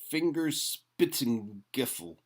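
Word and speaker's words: Fingerspitzengefühl: I like that word I wish I knew how to say it properly if anyone wants to give that one a shot Germans say fingers spitting giffle a feeling in the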